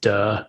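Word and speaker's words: 德: you're in way um unfortunately it's pronounced duh in modern mandarin but it's d e but it's you know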